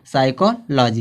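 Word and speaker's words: psychology: आगे दिया है शुरू में क्या दे दिया, पी एस दे दिया है, तो इस पी का उच्चारण नहीं निकलेगा, क्या निकलेगा, यस का उच्चारण निकलेगा, साइकोलॉजी हो जाएगा।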